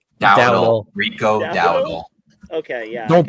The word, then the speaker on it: Dowdle: I'm definitely gonna pronounce his last name. Rico Doldo. Dowdle.